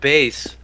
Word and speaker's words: Bass: Bass is pronounced base.